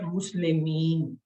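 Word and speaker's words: مسلمين: ایک زبر لگا دی، اور ساتھ میں یا اور نون زیر جو ہے اس کا اضافہ کیا تو یہ کیا بن گیا، مسلمین، مسلمان، مسلمین، یہ اس کا اصل تلفظ ہے۔ یہ دیکھیے پرانی آیتیں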